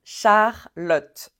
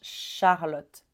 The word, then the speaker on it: Charlotte: nom MAOM Manom celui-ci Charlotte Charlotte là on a bien le au début C H Charlotte Charlotte comment tu prononces